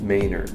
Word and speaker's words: Manor: Manor m a n o r but it's pronounced mayor so so if you call it mayor around